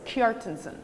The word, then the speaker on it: Kjartansson: It's basically kind of sounds like K-Y-A-R-T-A-N-S-S-O-N. So it's like 3 syllables, Kjartansson.